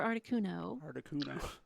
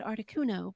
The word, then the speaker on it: Articuno: natural pronunciation so like as a kid i said articuno but now today i say artisuno yeah like so it